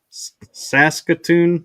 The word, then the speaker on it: Saskatoon: in Saskatoon. Is that how you pronounce it?